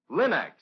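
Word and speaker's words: Linx: will find all three great linux home brighteners linux self polishing wax linux cream polish and linux clear gloss varnish at your nearest hardware paint or department store remember to ask for them by name linux it's spelled l-i-n-x linux ask for it now now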